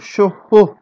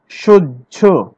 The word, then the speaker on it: সহ্য: 10 নম্বরে আমরা চলে যাই, হয় জ ফলা যদি থাকে, হয় জ ফলা মানে কি হ প্লাস ঝ, কিন্তু উচ্চারণ করি কি বর্গের জ প্লাস ঝ। আমরা কি বলি কখনো সহ, আমরা বলি সহ্য, সহ্য বলি, সহ্য, আমি